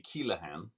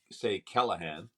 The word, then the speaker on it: Keleghan: Well, if you were to pronounce it properly, it would be Keleghan. Yes. Most people say Keleghan.